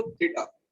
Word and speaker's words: theta: तो इनमें से ही किसी को हम थीटा मान लेते हैं। मान लो मैंने इसको थीटा लेट कर दिया, क्या कहा मैंने इसको, थीटा, THETA, थीटा।